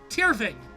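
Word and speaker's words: Tirfing: tiervin the white surfing because these i mean f's are pronounced like v so it's tier v so i was almost pronouncing it correctly tier thing but tier v with the v the there's the v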